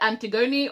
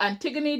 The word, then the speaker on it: Antigoni: bombshells entered the villa we had antigone or antigone depending on the pronunciation that you go with she entered quite early